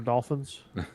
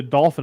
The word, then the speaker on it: Dauphin: is except for dolphins well it's not even spelled with an L it's like I keep calling it Dolphin Island but I think it's dolphin yeah it's the prince the prince of France the dolphin d-a-u yeah I thought I